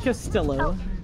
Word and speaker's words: Castillo: You are throwing, so you pronounce the L's in Castillo. You said Castillo.